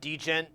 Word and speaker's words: Djent: I pronounce it Djent. Yeah, the D isn't silent. It's not like Django.